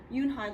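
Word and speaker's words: Unhei: Yoonhai looked quickly at Mr. Kim and then turned to Joey. She nodded slowly. It's pronounced Yoonhai.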